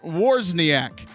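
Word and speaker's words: Wawrzyniak: i a k and he says it's pronounced warsak and I sir want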